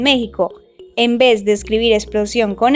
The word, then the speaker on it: explosión: Explosión contiene 3 sílabas, explosión, y es una palabra aguda. Las palabras agudas son las que llevan el acento en la última sílaba y se les pone